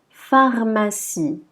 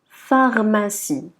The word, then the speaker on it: pharmacie: Par contre, pour la lettre P, accompagnée de H, on va la prononcer feu. C'est comme la lettre F, feu. Donc on dira pharmacie, pharmacie.